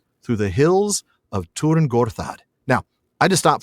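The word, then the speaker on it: Tyrn Gorthad: I've always pronounced it tier Gortad. But then I had to look that up. James, can you explain? It is Turin, isn't it? That why it's the U in German.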